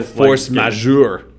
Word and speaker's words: force majeure: upon your phone Oh force majeure a French pronunciation meaning superior force also known